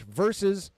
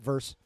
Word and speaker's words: versus: of the Marvels versus it's two syllables Josh versus not verse uh the 616 Avengers